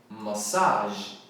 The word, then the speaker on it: massage: Outra palavra de origem francesa que a gente não pode confundir com mensagem em inglês é massage. Massage. Não tem nem o d no final porque é uma palavra francesa.